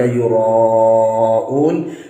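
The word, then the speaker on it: يُرَاءُونَ: Nah, ini ketika baca yura'un seringkali kurang panjang dalam membacanya. Berapa panjangnya? Panjangnya ialah 2,5 alif atau 5 harokat.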